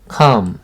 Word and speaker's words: calm: 그 다음 calm, 조용한. 이 L이 묵음입니다. calm 아니에요. 소리가 전혀 안 납니다.